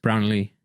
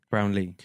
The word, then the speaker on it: Brownlee: And then last name is Brownlee. Brownlee.